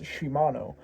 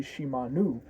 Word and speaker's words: Shimanu: to one of her attendants as Shimano. And she's like uh my name is actually Shimanu. And this is important because in the Kakin dialect the I guess how stuff is pronounced makes it either masculine or feminine or feminine.